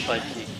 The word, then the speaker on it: Budkie: The last name is Budkie. It's spelled B-U-D-K-I-E.